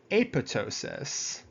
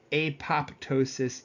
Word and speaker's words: apoptosis: One being necrosis and the other is aptosis.